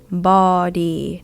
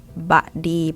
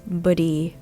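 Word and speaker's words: พฤหัสบดี: Bodi. This one is very difficult. It's an exception. It's not baddi, but bodi. But you say it quickly, it might come across or heard as budi, buh.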